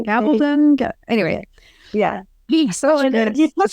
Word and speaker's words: Gabaldon: I don't know how to pronounce her name, but Gabaldon, thank you. Gabbledon.